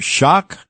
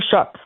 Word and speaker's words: Shough: How do you pronounce the name? Is it Taylor Shock? Tyler Shough.